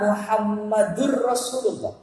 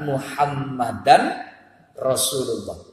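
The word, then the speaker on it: محمدًا رسول الله: Jadi tidak boleh anna Muhammadur Rasulullah, tapi anna Muhammadan Rasulullah. Muhammadan Rasulullah. Itu diikuti orang banyak, Pak. Itu. La ilaha illallah Muhammadar Rasulullah. Keliru. Itu. Harusnya kalau tidak pakai anna, la ilaha illallah Muhammadur Rasulullah. Jadi kalimat syahadat, asyhadu an la ilaha illallah wa asyhadu anna Muhammadar Rasulullah. Itu cara pelafalan yang benar.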